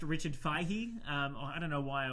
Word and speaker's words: Feige: Yes, it is pronounced Richard Feige. I don't know why I always say Feige.